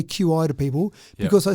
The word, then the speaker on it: Qi: Now QI is pronounced chi. Oh, sorry. No, I'm the same as you. Yeah. I normally say QI to people because I say chi and they think, what are you saying?